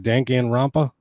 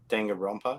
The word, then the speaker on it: Danganronpa: Dangan Rampa. Danganronpa, yep. Yeah. You're asking me for help on pronunciation.